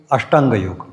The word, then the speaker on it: योग: ले पण त्याचबरोबर खरा योग हा बाजूला राहिला मी मुद्दाम त्याचा उच्चार योग असा करतोय योगा असा करत नाहीये आणि तो असा करू नका तर तो चुकीचा उच्चार आहे त्याचा स्पेलिंग वाय ओ